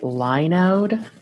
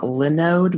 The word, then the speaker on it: Linode: supposed to pronounce it Linode and not Linode, because if it gets too close to Linux, it might run afoul of some legal thing. So they probably call it Linode. It sounds nicer as Linode anyways.